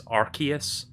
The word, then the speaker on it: Arceus: trailer like last week and apparently the correct pronunciation is arceus like it's a hard see it's not a